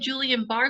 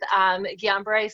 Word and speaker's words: Guillain-Barré: Paralyzed, but you have Julian-Barr syndrome, right? Yes, yes. So I was diagnosed with Guillain-Barré syndrome.